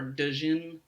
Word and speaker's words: Djinn: Oh, I don't know if it's like Django, the D is silent or Jin. not. It's Jin? Jin. Is it It's Jin? like yeah, like genie type thing.